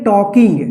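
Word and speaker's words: talking: एन जी इसको पढ़ेंगे टॉकिंग देखिए यहां पे टी ए ल के इसमें आई एन जी लगा है ठीक यहां पर देखिए ल जो है इसमें साइलेंट राहत है जब हम साइलेंट वाला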